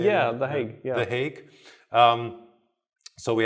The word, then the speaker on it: The Hague: Yeah, The Hague.